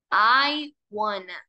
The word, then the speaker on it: I wanna: la palabra I wana I wana suena como la palabra iguana el animalito iguana iana De igual forma lo